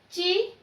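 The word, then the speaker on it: ಚಿಕ್ಕ: Third one, chikka. Chikka. Chikka. Chikka means small. Okay. This is chi gunitakshara. This is ka under that ka. Chikka. This one hardly pronounce. Chikka. Chikka means small.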